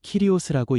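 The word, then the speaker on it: κύριος: 여기서 주라는 말은 헬라어로 키리오스라고 읽습니다.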